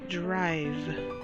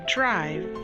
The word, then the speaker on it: drive: first word is drive drive the word drive the i you pronounce it long and the e is silent the next word with